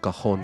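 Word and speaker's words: cajón: ये इंस्ट्रूमेंट है जिसके स्पेलिंग्स है सी ए जे ओ एन ये कखन कहते हैं इसको यह पेरू में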